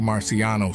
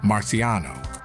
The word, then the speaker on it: Marciano: However, it should be noted that in the States, in the English-speaking environment, the surname is pronounced in their own way, Marciano.